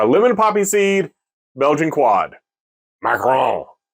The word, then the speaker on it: macaron: with a French macaron I macaron not macaroon macaron macaron something I don't know